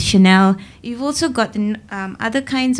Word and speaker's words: Chanel: Levi's Chanel of course some people pronounce it channel but you know we know it's Chanel you've also gotten other